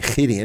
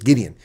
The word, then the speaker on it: Gideon: Or you guys say Gideon because of the way you pronounce G, but it's Gideon in English.